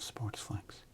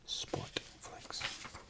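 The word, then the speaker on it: Sportflics: Jerome Walton, all of Sportsflix, and Oral Hershiser, the Bulldog. All of Sportflix. They added an S in there. Sportflix. It's the correct way to say it.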